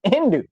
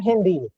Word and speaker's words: Hindi: all the signs are in Hindi Hindu you understand what I'm saying Hindi actually is how you say it are in Hindi